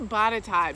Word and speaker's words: Botetourt: question a lot they'll say wait you said bottata but is this the same place because it's like butter tart that i see it is an unusual spelling but the county is bottata that we're going to be focusing on today